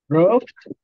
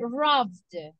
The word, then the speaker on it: robbed: I don't listen to the final sound. Robbed. Exactly, robbed. Robbed. It's like the como que usted diga una D, pero así.